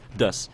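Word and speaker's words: です: It is pronounced des. The U at the end is silent.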